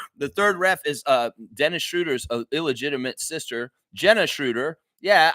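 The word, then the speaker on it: Schröder: Okay, they have the pronunciation here. It's Schroeder. Schroeder.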